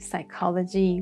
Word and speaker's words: psychology: Psychiatry, psychology, we talked about them before. Yeah. But you see both P and H are silent.